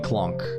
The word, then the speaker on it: LCOLONQ: funny to see like some people instantly are like oh L Co and Q other people are like look people don't know people call me clunk um it's a few syllables shorter three of them shorter thank you for the